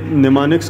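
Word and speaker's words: mnemonics: स्पेलेल इसका है एम एन ई एम ओ एन आई सी एस। लेकिन इसको प्रोनाउंस हम निमानिक्स ही करते हैं।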